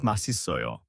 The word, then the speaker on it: 맛있어요: The pronunciation is 맛있어요.